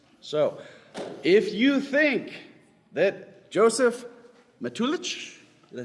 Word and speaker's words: Josef Matulich: So, if you think that Josef Matulich, did I say it right? Yes. Okay, Josef Matulich is the winner.